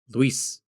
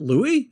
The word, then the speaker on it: Luis: Luis and it's one syllable by the way my name is one syllable but I always have to go Louise so that they can hear what my name is and they go what is it Louie and I'm like yeah